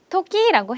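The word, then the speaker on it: 時: 그래서 나 형용사구나 라고 해서 한번 발음하시고 외우시면 돼요. 필요하니 뭐라고요? 히츠요나 라고 하시면 되겠습니다. 히츠요나 때는 뭐죠? 토끼라고 해요.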